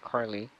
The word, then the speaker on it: Carly: what do I keep saying it wrong yes Carly not Carla um Ben Matt Lily Kenny Kenny's wife ah